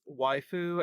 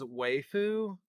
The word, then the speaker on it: waifu: about the character and the narrator pronounces waifu as wayu and I thought that